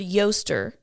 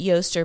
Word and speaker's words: Eostre: Okay, you say this word Yoster, but it's spelled Eostre. That looks like Easter. But you technically would say it Yoster, but it looks like Easter.